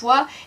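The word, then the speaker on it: は: Ha se prononce wa et O va plutôt se prononcer wo va plutôt se prononcer O.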